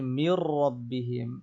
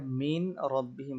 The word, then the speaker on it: من ربهم: এরপর হচ্ছে মির রব্বিহিম, আপনি যেটা মিন রব্বিহিম বলেন এই নুনটা লেখায় আসছে কিন্তু এটা পড়ায় আসবে না, কারণ সাকিনওয়ালা হরফের পরে যদি তাসদিদওয়ালা হরফ থাকে তাহলে সেই সাকিনওয়ালা হরফটা উচ্চারণে আসবে না, শুধু লেখায় আসবে।